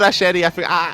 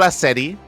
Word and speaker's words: Asheri: Yeah, sorry, I forgot Asheri. Okay, Kuro, you have to remind me. It's not Asedi. It's pronounced Asheri. Asheri? Asheri. See. It's a SH sound.